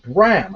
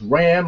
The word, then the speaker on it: Bram: team against Magnus and Bram I've always said his name wrong I thought it was Ram or Rand or or Rand or brand or I don't know but this wasn't really